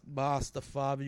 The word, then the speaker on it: Mostafavi: My main man, Mostafavi, was good.